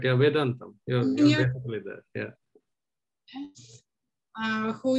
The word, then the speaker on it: Vedantham: Am I pronouncing it correctly? No, you're almost right, yeah, Vedantham.